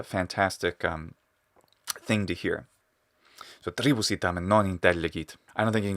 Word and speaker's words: tribus: he's not saying um he's not saying three boos he's saying tribus so you're saying that